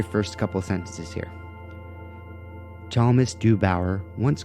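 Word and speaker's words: Chalmys: c-h-a-l-m-y-s thomas in fact it sounds a lot like this other word from the dune series which was at chong i believe it's thomas and it's the name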